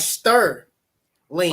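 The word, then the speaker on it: Stirling: over to it uh it's called Sterling s TI i r l i n g spell that again is it is it STI yep I thought it was stur Sterling no not that Sterling but this is like stir L okay okay like I'm stirring stirring that's different than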